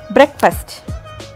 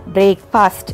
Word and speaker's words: breakfast: The right pronunciation is bowl. Number 5 in our list is breakfast. ஸோ இதை நம்ம breakfast அப்படின்னு சொல்லிட்டு இருக்கோம்.